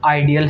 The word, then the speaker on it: ideal: Okay, it's आइडियल, इसका जो right pronunciation है आइडियल है.